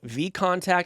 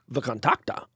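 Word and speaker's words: VKontakte: by creating a very popular Facebook clone called V contact at least that's how I pronounce it how do you pronounce it I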